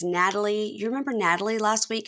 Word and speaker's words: Nathaly: me on the podcast Nat Nat Natalie I'm trying to say it right yeah yeah honestly it's like skipping the H yeah yeah I don't